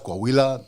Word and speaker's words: Coahuila: Piedras Negras, Coahuila. Coahuila? Yes, sir. You're the first person that I've ever heard pronounce that correct, and I'm going to tell you why.